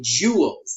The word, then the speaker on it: joules: So energy, when we talk about this, we're mainly going to be talking about energy measured in joules. That is pronounced like jewels, the precious jewels, which I might wear around my neck if I were, I don't know, some dude who wore jewels.